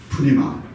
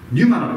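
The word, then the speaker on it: πνεῦμα: 그래서 이제 영어에서 이제 발음할 때는 뉴마라고 이렇게 표현해요. 뉴마. 그런데 이 그릭에서는 원어에서는 두 칸선들을 자음을 발음을 해줘야 돼요. 그래서 푸뉴마라고 이렇게 우리가 발음을 해야 됩니다.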